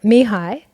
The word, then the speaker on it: Mihaly: And Mihai is his first name.